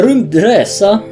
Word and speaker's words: RymdResa: taking a look ATA I'm going to say it like that because it's Swedish and that's the only way I can pronounce Swedish things so you're going to